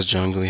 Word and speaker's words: Zhongli: I find it hilarious how Zhongli has Zhong in his name and that rhymes with Dong.